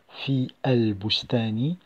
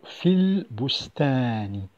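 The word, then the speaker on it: في البستان: Je n'ai pas prononcé fi el bustani, mais plutôt fil bustani.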